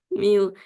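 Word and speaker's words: μ: Kamu bacanya Miu. Ingat-ingat ya, bacanya apa? Pak, seperti huruf N ekornya panjang itu Miu.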